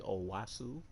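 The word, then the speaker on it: Onwuasor: uh i believe they actually said it's like owasu proper pronunciation kenny young though behind him tim williams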